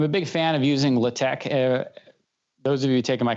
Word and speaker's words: LaTeX: is la te x looks like latex but pronounced leh Tech okay maybe people have